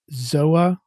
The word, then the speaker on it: TZOA: are ben reed from zoa haven or haven by zoa the company is zoa spelt t-z-o-a but the t is silent and the product line